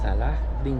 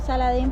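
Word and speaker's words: Salah ad-Din: Wir kamen an der Zitadelle von … – Salah-dín – an. Ja, weil wir SALADIN sagten, aber der Taxifahrer, der uns hinbrachte, brachte uns die richtige Aussprache bei. Auf Spanisch heißt Saladin, auf Arabisch Salah-din.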